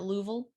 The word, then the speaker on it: Louisville: did you know that natives pronounce it louisville i did not know